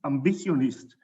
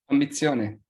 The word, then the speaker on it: Ambizione: the DECRA Award in Australia, and the Swiss Ambitionist. This is how you pronounce it, Andrea? Ambizione.